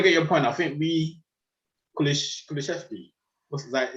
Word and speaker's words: Kulusevski: I think Kulusevski, is that how to pronounce it? Yeah, Kulusevski.